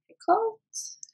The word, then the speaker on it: Picoult: for small great things by D by Jodi Picoult that's how you say it but you know